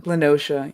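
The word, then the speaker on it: La Noscea: I didn't know how to pronounce it for a hot minute. So like Lanoskia? ocean Nocia. Lenosha, yeah.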